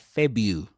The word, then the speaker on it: February: He doesn't say Feb-roo, Feb-roo, Feb-ra, but Feb-yoo, Feb-yoo, without pronouncing the ra.